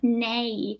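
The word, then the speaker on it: ναι: sign me nice it is indeed nay which does catch some people out sometimes because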